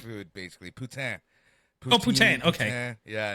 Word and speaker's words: poutine: What the hell is poutine? It's Quebec. Am I pronouncing that right? Food, basically. Poutine.